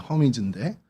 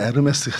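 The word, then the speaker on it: Hermes: 근데 이게 영어로 하면 허미즈입니다. 허미즈인데 이 불어로 하면 어떻게 됩니까? 네, 여러분들이 좋아하는 에르메스가 됩니다. 그럼 에르메스하고 이 헤르메스하고 관련이 있는 거냐? 똑같은 겁니다. 앙리가 헬리가 앙리인 것과 똑같은 발음 차이예요.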